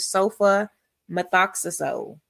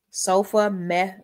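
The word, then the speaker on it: sulfamethoxazole: And then we have sofa methoxyazole. Sofa meth. And let's look at that. Sofa. Notice that sofa. It's telling you, showing you how to pronounce it. Meth oazo.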